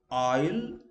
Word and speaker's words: isle: Where S is silent, like island, isle, isle, I have written the pronunciation.